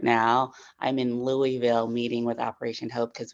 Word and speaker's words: Louisville: we have with them the locals say Lille Louisville oh I know thank you for the correction Louisville I hope I get it right I believe that